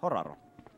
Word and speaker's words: Horaro: I don't know how to pronounce it in English, Horaro. So I pronounce it like Finnish way, Horaro.